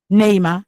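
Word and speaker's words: Ni'ma: Neima or Nima? Uh, Nima Netma, anyhow. Neima. Actually, it depends. Okay. Because it's a complicated pronunciation because Okay. it's Arabic.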